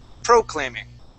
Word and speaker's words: proclaiming: That stress needs to be on the A, okay?